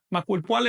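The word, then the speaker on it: macuilpohualli: Macuil Puali 11. Se pronuncia siempre llana, es decir, con acento en la penúltima sílaba.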